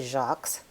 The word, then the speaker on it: Jaques: do today called the shocks we often spell it like Jacques in French je a qu es that's called the shocks people used to call